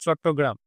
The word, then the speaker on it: চট্টগ্রাম: হয়েছিল সেটা হলো আমাদের চিটগাঁও আর্মারি রেড 1930 সালে সূর্য সেনের দ্বারা। এবার এটা আমাদের ইংলিশে প্রোনাউন্সিয়েশনটা হয় চিটগাঁও, কিন্তু এটা যদি আমরা বাংলায় বলি হবে আমাদের চট্টগ্রাম।